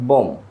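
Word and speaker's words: bomb: বাট এখানেও বিয়ের উচ্চারণ হবে না, এখানে বলতে হবে বম, ডাইরেক্ট বম। বম, বিয়ের উচ্চারণ এখানে হবে না।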